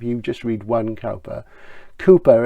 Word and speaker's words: Cowper: just read one caliper Cooper is the real pronunciation we call him Cowper so we know for